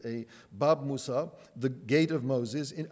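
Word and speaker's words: باب موسى: You can see Bab Musa, the yud at the end is pronounced as a Bab Musa, the Gate of Moses, in Arabic and Hebrew characters.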